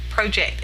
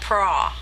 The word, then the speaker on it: project: And anyway, because it's P-R-O. That's pro, not pra. Because then it would be spelled like bra, which would be P-R-A, pra. And it's not. It's project.